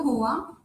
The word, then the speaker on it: Hoa: uh let's have a brief int introduction of H okay H pronounced as h means FL in vietnames reflecting